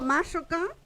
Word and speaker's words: mashoka: Pero cuando yo digo mashoka, ¿qué pasa? El acento se viene para acá. Esta sí sigue la regla del acento. La segunda sílaba es abierta, entonces acentúo la primera.